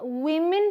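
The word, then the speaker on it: woman: फिर है वुमन एंड विमेन, वुमन एंड विमेन, इसे हम विमेन पढ़ेंगे, इसे हम वुमन पढ़ेंगे। यहाँ WO को वू बोलेंगे, यहाँ WO को वी बोलेंगे।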